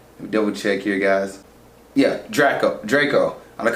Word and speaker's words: Draco: Yeah, Draco. I'm gonna call him Drake earlier, but Draco's father, and he's pretty much another antagonist introduced in this movie.